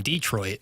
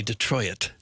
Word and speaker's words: Detroit: Some get that extra syllable in there at the end.